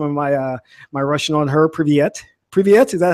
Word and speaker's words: привет: Privyet. Privyet, is that how you say it? Привет, как дела?